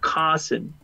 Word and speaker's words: cousin: Cousin. All right? Cousin. Cousin. Cousin. Cousin. Cousin. Right? Cousin. La U por ningún lado, por favor. La U jamás. Sí, la U. No la pronuncian.